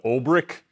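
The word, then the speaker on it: Olbrich: second round to take Australian big man Lachlan Olrich. That is actually only the second time in my life I've pronounced his name correctly, so kudos to me.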